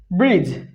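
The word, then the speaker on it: bridge: বি আর আই ডি জি ই, ব্রিজ। এখানে D silent আছে, এখানেও ডি সাইলেন্ট থাকবে।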